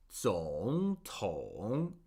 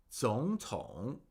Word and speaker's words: 总统: So, for example, with 总统, if we had to pronounce both third tones, we would have to say 总统, 总统. But that's a lot of work. So instead, we say 总统, 总统. Do you feel the difference?